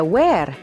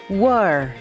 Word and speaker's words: were: kata yang dibaca where kata kedua bukan dibaca where melainkan world where adalah kata kerja